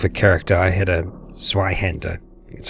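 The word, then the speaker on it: Zweihänder: Now, last time I was down here with a character, I had a Zweihander.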